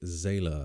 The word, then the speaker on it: Zahler: Craig Zahler, I believe is how you pronounce that last name, who a lot of